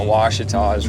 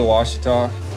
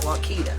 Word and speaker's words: Ouachita: We're going down to the Ouachita River to go chase some smallies with fly rods. Well, at least you know how to say it. True. Most call it Wakita.